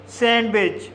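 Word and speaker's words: sandwich: इसी तरह से सैंडविच सैंडविच में पहला सिलेबल एन डी से समाप्त हुआ है और दूसरा सिलेबल कसोनेंट डब्ल्यू से शुरू हुआ है। इसलिए डी साइलेंट रहेगा। इसलिए इसे सैंडविच पढ़ा जाता है।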